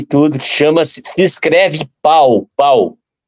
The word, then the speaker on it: Pau: numa cidade que eu pesquisei tudo que chama-se se escreve pau pau p a ou pau mas le pô